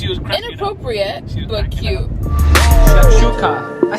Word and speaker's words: shakshuka: Shakshuka.